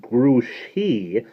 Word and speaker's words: Grouchy: Zimmerman only it's pronounced grew she because it's a French name bad ears here knows